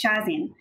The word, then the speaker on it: Shazeen: The right way of pronouncing my name is Shazeen, which is a very difficult way for non-South Asian speakers to say my name.